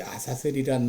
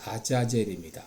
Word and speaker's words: 아자젤: 양으로 들여지게 됩니다 여러분이 아사슬이라는 말은 정확히 발음하면 아자젤입니다 아자제일 속죄양 아사셀이라고 말하는데이